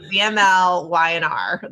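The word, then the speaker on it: VMLY&R: so many consonants um vml y andr That's H that's what we say wasn't sure the right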